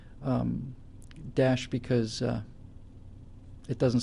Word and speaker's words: Daesh: have high hijacked uh it's pronounced Dash thanks guys uh you